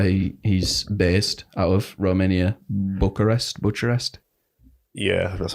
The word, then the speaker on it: Bucharest: That's where he's based, out of Romania, Bucharest. Yeah, that's how it's pronounced.